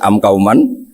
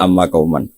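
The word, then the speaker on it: أمّ قومًا: Mungkin kita pas belajar baca am kauman, kemudian dibenahi guru ternyata bacanya amma kauman.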